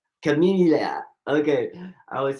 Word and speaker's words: Kimimila: I said chameleia. But how do you say your name? Chamilia.